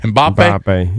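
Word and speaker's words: Mbappé: they were that goal by how do you pronounce the guy's last Mbappe? Mbappe.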